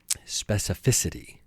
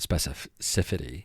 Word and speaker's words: specificity: some eggnog after this so specificity I don't care if I'm saying it right anymore specificity is important this word doesn't make sense anymore man it doesn't it doesn't even have any meaning now specificity specifity uh it's definitely not specifity it's specificity Jesus Jesus